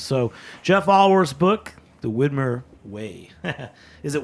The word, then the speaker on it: Widmer: Jeff olor's book The Whitmer way is it Whitmer or whitmere in Portland everybody says whitmere and they're wrong it's Whitmer well it's it's weird